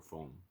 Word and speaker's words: fon: Oh, Fon or phone. Phone. Normally, every single noun has a vowel on the end. That's a strange one that they call it phone.